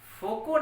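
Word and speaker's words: Foucault: दूसरा, एक साइंटिस्ट थे फोको, फेको नहीं, फोको, हालांकि अंग्रेजी में उसके स्पेलिंग में होता है FAUCUOLT, फैकल्ट।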